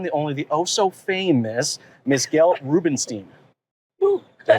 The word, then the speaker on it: Gail Rubenstein: I am here in Las Vegas with the one, the only, the oh-so-famous Miss Gail Rubenstein.